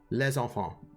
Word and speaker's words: les enfants: You pronounce the S, right? Les enfants. Les enfants.